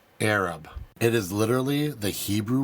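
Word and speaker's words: ערב: In Aramaic, the word used for mix is spelled Ain Resh Beit and pronounced Arab.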